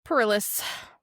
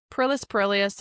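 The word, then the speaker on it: Perillus: So, poor Pilus. Bro, Pilis Perilius.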